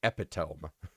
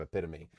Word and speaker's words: epitome: I'll read this and I read it as epiome and so that's forever in Critters 4 if you watch that. Uh I yes said epiome instead of epitome.